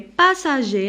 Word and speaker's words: passagers: Les passagers, la même. Alors ici je barre le R. Et le S, parce que je prononce ni R ni S.